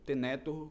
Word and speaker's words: tenetur: Eu falo tenetur, que acredito eu que seria a pronúncia mais adequada.